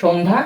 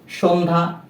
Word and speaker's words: সন্ধ্যা: দন্ত স ন সংযুক্ত ধ জফলা আকার সন্ধ্যা, জফলার কোনো উচ্চারণ এক্ষেত্রে হচ্ছে না, কেননা এটি হচ্ছে যুক্ত ব্যঞ্জনের সাথে জফলা রয়েছে, এজন্য এর উচ্চারণ হবে না।